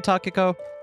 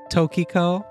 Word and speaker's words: Takako: Sanae stopped her nod midway and cocked her head and thought, I just realized I've been pronouncing Takako's name wrong this entire episode, haven't I? As what? Tokiko. Oh, that's someone else.